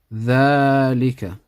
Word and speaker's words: ذلك: ذلك. We read it like this, but we write it like this. So there's an alif here which is pronounced but not written.